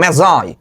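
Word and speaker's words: Magi: দ্য ম্যাজাই, ম্যাজাই, অনেকে ম্যাগি উচ্চারণ করে, ম্যাজাই।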